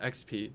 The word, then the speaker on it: Expii: EXPII is pronounced XP. It's experience points in many people's video games.